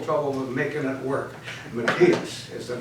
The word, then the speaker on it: Matthias: have a little trouble with making it work Matias is the name and you see if you